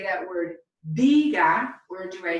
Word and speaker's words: diga: When there's no written accent mark, the natural stress is going to fall on the second to last syllable. So we have a rule that tells us how to pronounce this word. So the word diga, my formal usted command